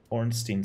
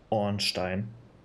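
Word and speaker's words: Ornstein: Slayer spear over here orstein spear or probably better pronounced orstein or onstein cross spear associated with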